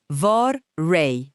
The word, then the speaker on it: vorrei: Hãy chú ý đến âm “vorrei.” Nên phát âm thật mượt mà: “vor-RAY.” Rất tốt.